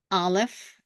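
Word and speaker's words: א: two letters and uh in this alive doesn't have any sound in this position and in this position it doesn't have any sound so that means that what is left is the vowel a let's take a look at this one bet does have a sound B A but alive doesn't have a sound so it is ba now hey has a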